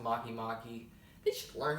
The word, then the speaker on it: Makemake: how Maya mom Makemake oh it's pronounced Makemake they should learn how